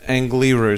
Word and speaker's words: Angliru: How do you pronounce it? Angliru. Angliru, sorry.